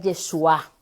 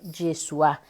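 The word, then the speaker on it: ישוע: traducción se entiende diferente ahora en arameo se pronuncia el yeshua en arameo yeshua y en hebreo y Joshua llegó en español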